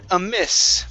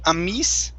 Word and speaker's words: amis: o own very good next up is the word amis so instead of ami amis okay let's use a